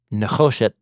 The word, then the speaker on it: nechosheth: He has a Nechoshet helmet on his head.